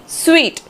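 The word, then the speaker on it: suite: स्वीट इसको हम स्वीट pronounce करते हैं।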